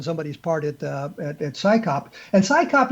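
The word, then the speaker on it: CSICOP: And Psychop, you actually have a name you can say. It's Psychop. We know what that means, but CSI, you cannot pronounce it as an acronym. So you have to say CSI.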